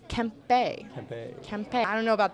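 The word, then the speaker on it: Kempe: Kings my favorite team like Adrian Kemp actually you know I thought for the longest time this can't be but it's actually Kemp Bay campaign I don't know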